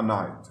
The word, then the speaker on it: knight: or fights in war, this is called a knight, okay? Here's an example, knights in black armor. The word gnome, the G is silent, it's called gnome.